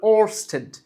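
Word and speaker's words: Ørsted: ওয়েস্টেড একটু সুন্দর করে উচ্চারণ করলে ওস্টেড।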